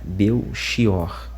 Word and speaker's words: Belchior: eu desconhecia de todo, surpreendeu-me a prolação do nome Beior e não Belchior, como se diz em Portugal e demais países da comunidade eh de língua portuguesa.